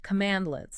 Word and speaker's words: cmdlet: a bunch of commands called CMD lits it's pronounced command lits okay CMD lits they are made specifically for